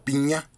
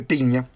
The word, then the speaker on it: Pigna: Pigna se escribe, pero creo que se pronuncia Piña, y se llama Conspiración en Londres.